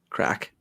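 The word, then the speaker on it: craic: a drug reference yeah cr a ac crack in english that is c-r-a-i-c jesus don't get an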